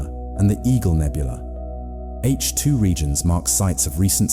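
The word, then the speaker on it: H II: The Milky Way contains vast regions called H2 regions, pronounced H2, where ultraviolet radiation from hot young stars ionizes surrounding hydrogen gas.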